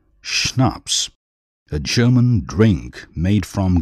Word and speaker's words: schnapps: that was the end of the matter schnapps pronounced schnapps a german drink made from grain cello a musical instrument like a large violin page 12.